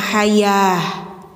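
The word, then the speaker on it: الحياة: Ta bulat ketika mati suaranya jadi ha ya. Jadi ini bacanya hayah gitu.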